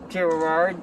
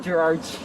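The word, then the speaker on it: Gerrard: Gerard Street and I'm having a hard time like pronouncing that. I always keep on saying Gerard. So supposed to be Gerard.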